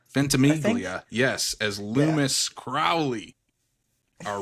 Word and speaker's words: Ventimiglia: Oh my God, I can never pronounce his Ventimiglia? Ventimiglia.